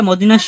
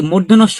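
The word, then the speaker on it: মূর্ধন্য ষ: তারপরে মদিনাস এটা আমরা মদিনাস বলি অনেকে এটা পেট কাটা মদিনাস বলি বাট এটা কোনটাই সঠিক না এটা হবে কি মূর্ধনস্য এটা হবে কি হবে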